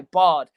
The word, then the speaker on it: Bod: They just call him by Bod, which I'm not sure if you made the recognition, but it rhymes with God.